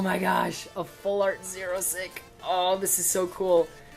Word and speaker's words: Xerosic: And when you say it like a Xerosic apostrophe S, it sounds like you're just saying 06, which I'm pretty sure is kind of like supposed to be the joke of his name.